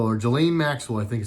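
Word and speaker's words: Ghislaine: go here we go Jelena Maxwell or Jala Maxwell I think you say your name there's an S in there but I think it's silent I've seen the news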